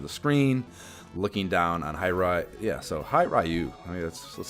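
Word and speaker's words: Hiryu: Yeah, it's definitely 2 syllables, so it's got to be Hi Ryu.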